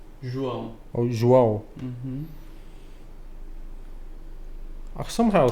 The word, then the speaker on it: João: How do you pronounce that? João João.